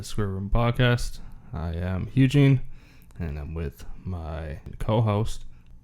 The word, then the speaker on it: Hugh-Gene: people are just like, are they mispronouncing Eugene? Yeah, I know. I was like, oh, but his name's not really Eugene. It's fucking But Eugene. no, his name is Hugh-Gene, everyone, with an H.